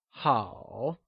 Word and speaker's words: 好: It is said with a falling, rising tone, also known as the third tone, like 好.